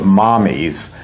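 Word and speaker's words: Mamis: Naomi Posner came up with this product that she originally calls the name, she pronounces it Mommies, which is Italian for mother, but it's spelled M-A-M-I-S.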